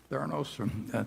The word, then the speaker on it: Theranos: And Theranos, I think, is that the way you pronounce it, Charlie? Theranos?